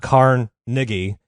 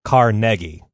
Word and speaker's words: Carnegie: about Andrew Carnegie is we've all been mispronouncing his name. We've been splitting the syllables up weird. It's not Carnegie, it's Carnegie.